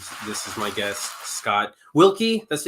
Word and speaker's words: Wilke: I'm your host, Frank Martin, and this is my guest, Scott Wilke. That's how you pronounce it? Wilke, yep.